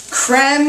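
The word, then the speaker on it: crème: show our Philadelphia cooking creme is really the way this should be pronounced like creme fresh or creme brulee but it's so thick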